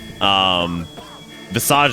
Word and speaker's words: Visage: Visage is a French word. So I'm pretty sure it's Visage, much like Mirage.